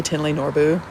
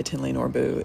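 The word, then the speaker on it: Thinley Norbu: And it looks like it's spelled like thin, like fat or skinny, thick or thin, thinly, but it's pronounced Tinley Norbu.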